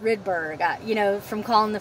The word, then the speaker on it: Rydberg: after this redberg stuff um i've been saying rydberg but it's pronounced rydberg you know from calling the facility i learned that so i apologize but it's rydberg it's the same machine but anyway i wanted